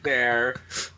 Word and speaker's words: ye: It was spelled ye, like ye old hotel or whatever. But guess what? That Y was pronounced th. Like the.